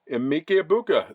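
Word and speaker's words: Emeka Egbuka: Emike Ibuka.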